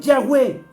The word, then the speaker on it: Yahweh: asimismo, nosotros mismos, en Yahweh. Lo estoy pronunciando en hebreo, para los que están entrando en este momento.